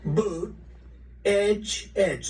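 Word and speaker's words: Buttigieg: know years ago I said how do you pronounce that damn name and they said boot Edge Edge the word Edge Edge that's the way it's pronounced booted Edge he ain't doing too good a job those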